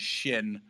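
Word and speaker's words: xin: I believe that like the way you pronounce pronounce that x i n actually in Chinese is shin right I thought I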